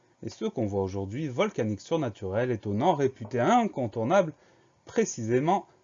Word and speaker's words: volcanique: Première syllabe, vol, V-O-L. Deuxième syllabe, K, C-A. Le son K est obtenu grâce au C. Syllabe suivante, ni, N-I. Dernière syllabe, que, Q-U-E. Donc pas de piège dans le mot volcanique, V-O-L-C-A-N-I-Q-U-E.